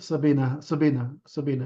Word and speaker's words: Sabine: Yes, Sabina, yes. The German, Sabina, so you pronounce the E.